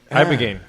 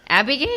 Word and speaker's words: ibogaine: Ibogaine. Abigaine? Yeah, ibogaine. Ibogaine. Yeah, Vice and everybody has done documentaries. Spell it. I can't spell it. It kind of sounds like a name, like Abigail.